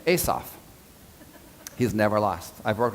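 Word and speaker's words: Assof: He pronounces his name Asaph.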